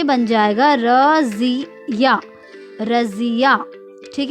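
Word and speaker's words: रज़िया: बच्चों, जो सही उच्चारण होता है वो होता है रजिया। क्या होता है, रजिया।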